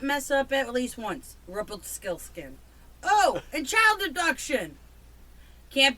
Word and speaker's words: Rumpelstiltskin: How do you screw up Rumpelstiltskin? You're missing the P. Rumpelstiltskin. Stillskin.